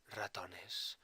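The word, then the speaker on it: ratón: just pay attention here Raton is made up of two syllables the first syllable is RA and the second syllable is ton with the aeno over the O this is where the emphasis of the word is and when now words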